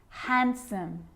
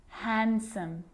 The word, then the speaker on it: handsome: So what about the letter D? Yep, it can be silent too. Wednesday, handsome, sandwich.